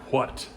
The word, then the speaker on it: what: My teacher, Richard Owens, used to say, what. That's the very English way, and the correct way, pronouncing that or voicing the H.